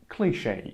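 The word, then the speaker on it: cliché: a cliche to say that this word is pronounced cliche the pace of change has never been faster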